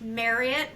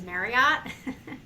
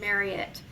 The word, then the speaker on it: Marriott: fun fact for everybody it's pronounced Marriott like Chariot for the entire world says Marriott so if you take nothing else away from you today uh it is pronounced Marriott um and but I